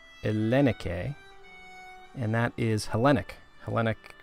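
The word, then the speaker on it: ΕΛΛΗΝΙΚΗ: So this word is Ellenike. Ellenike.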